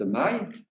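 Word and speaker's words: Mailhe: Le lauréat, Jean-Baptiste Maille, qui s'écrit M-A-I-L-H-E.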